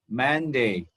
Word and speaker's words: Monday: ဆရာကပထမဆုံးရက်ကို Monday တနင်္လာနေ့ယူထားပါတယ်။ဘုရားဆရာသင်ခြင်းတဲ့အကြောင်းအရာလေးကိုထိထိမိမိဖြစ်စေခြင်းတဲ့အတွက်ဆရာ Monday ယူပါတယ်။ The first day of the week is Monday. Monday. ဆရာတို့ဒီမှာအတန်ထွက်ကနှစ်ခုရှိပါနော်။အတန်ထွက်နှစ်ခုဆိုတော့ဆရာတို့ကဒီမှာအတန်နှစ်တန်ပေါ့နော် two syllables ရှိပါတယ် man ရယ် day ရယ်ဆရာတို့ o နဲ့ဒီမှာအလယ်မှာရေးပေမဲ့ဟုတ်ပြီနော်ဆရာတို့ပထမ